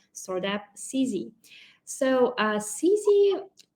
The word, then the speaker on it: Sizze: app CZ so uh CC like it rhymes with easy all right and it